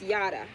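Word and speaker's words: Yahda: for example my name my name in hebrew is pronounced and written as yada that's y-a-h-d-a and it means the knowing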